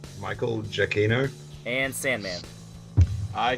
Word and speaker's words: Giacchino: All right, Jeremy, Michael Giacchino? Ed, It's actually pronounced Michael Giacchino.